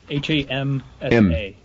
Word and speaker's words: Hamsa: How do you, it's spelled H-A-N? H-A-M-S-A.